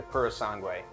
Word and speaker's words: Purosangue: Last but certainly not least, Ferrari has announced its new SUV, the Purosangue, or at least that's how they tell me how to say it.